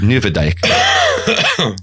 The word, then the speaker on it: Nieuwedijk: There's actually the street I was looking for is spelled Nieuwedijk, but it's pronounced Nieuwedijk.